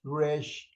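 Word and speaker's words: ריש: 특별히 이렇게 눈에 띄는 게 레쉬. 이거는 이 스페니쉬들이 하는 것처럼 혀를 굴려야 돼요.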